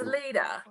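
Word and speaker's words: Leida: it's Leda. Lita. Okay, Leda. Lita. Leda, yeah. Almost like Leda. I Leda. call her ladle, but that's okay. Leda hit the United States Well, and hit the ground running, bro.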